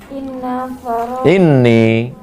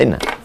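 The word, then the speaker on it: إني: Terus annan nabiyya sallallahu alaihi wasallam qala inni. Kalau nampak di bawah tasdid bacanya ini, coba tengok. Di bawah. Bacanya ini, jangan baca inna.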